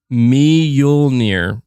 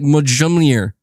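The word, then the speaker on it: Mjölnir: the snore stuff um me yul near mjolnir mjolnir okay all right because that's not how i'm reading it at all i'm like mojamier magellaneer you're gonna get the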